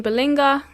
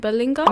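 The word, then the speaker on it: Ballinger: Colleen Balinga, I think is how you say her surname, Balinga. Miranda Sings, basically, has also been called out for doing exaggerated makeup as well as mocking Latina women.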